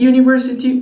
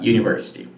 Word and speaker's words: university: look at the sound what is the first sound of this word here the first sound of this word is university university this is the same sound we use when when we say